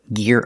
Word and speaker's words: gear: We're learning this phrasal verb, gear up. Pronunciation, use the hard g sound like go and gas.